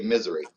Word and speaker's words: Missouri: The younger they are, they'll say Missouri. And then, people that are not from here, they say misery. So what is is Dylan the old fart that's saying Missouri? How do you say it, Dylan? No, I don't say Missouri. I say Missouri, but okay. Missouri is more southern. It's more in the boot hill and more towards Arkansas.